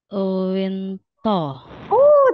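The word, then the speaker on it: 윈터: Winter gitu kan, jadi Winto gitu.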